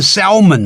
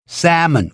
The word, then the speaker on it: salmon: one salmon, two salmon，不要念 salmon 了 S-A-L 那个 L 不发音 salmon 鲑鱼。